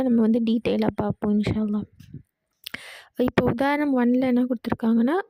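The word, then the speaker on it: الله: அந்த ஃுல் வேர்ட வந்து எப்படி ஓதணும் அப்படின்னா ஹவியா அல்லாஹ அப்படின்னு ஓதணும் வல்லினமா ஓதணும்.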